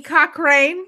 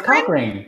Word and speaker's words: Cochrane: Like Johnny Cochran? Yes. No, it's Cochrane.